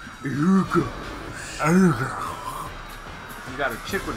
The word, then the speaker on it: Ehrgeiz: I mean, I just got Ehrgeiz. That's how the announcer pronounces it. He just says Ehrgeiz.